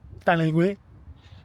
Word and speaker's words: Taninges: So I'm just sat in a car park in Taninges, pronunciation French, Taninges, at the football club.